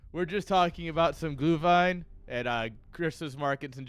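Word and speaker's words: Glühwein: great day no it's glue Vine is how I was told to pronounce it glue fine that's how I was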